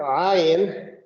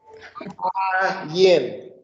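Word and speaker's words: ע: That is the letter Ayin that looks like this. Okay, the way you pronounce that is in the back of the throat. So it's almost like a growl.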